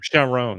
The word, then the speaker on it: Chiron: how the how do you pronounce his name Chiron shiron Sharon that's it uh each of them were great